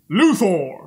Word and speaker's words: Luthor: This is not Lex Luthor, or as Kevin Conroy pronounces it, Luthor.